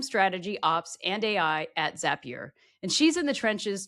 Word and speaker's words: Zapier: It's Zapier makes you happier. That's a good way to remember it.